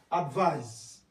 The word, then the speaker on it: advise: Notice the pronunciation of this first one, advise. The second one, advice.